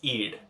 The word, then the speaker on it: id: is eid i d the pronunciation of this is eid most often people are